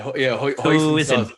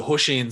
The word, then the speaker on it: hoisin: Yeah, hoisin, something like that. Yeah. Yeah, my mate calls it Hushin sauce, and I'm like, you Irish fucker, man. Like, it's hoisin, and he's like, I